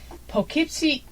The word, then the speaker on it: Poughkeepsie: alive this is from the pocket C evening enterprise and it's spelt Poughkeepsie ok February 7th 1898